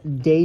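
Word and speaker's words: Dey: Eliza Parker they moved to a house on day street so Day Street is down by the World Trade Center Dy it's spelled Dy Day Street down by the World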